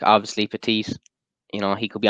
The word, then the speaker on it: Petit: You're not meant to pronounce the T. It's silent. I was wondering, was it the same with names? But it definitely is, yeah, Petit, yeah, you're right.